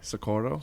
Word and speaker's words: Socorro: Okay, Socorro. Socorro is a very hard name to pronounce. So you got to roll the R's.